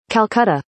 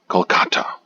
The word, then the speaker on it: Kolkata: is interesting because the current spelling and the pronunciation of the city is slightly different from the past Kata Kolkata Kolkata Kolkata Kolkata Kata Kolkata Kolkata okay now